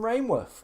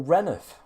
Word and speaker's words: Rainworth: Oh, you're from Rainworth or Reneth, whichever way you want to pronounce it.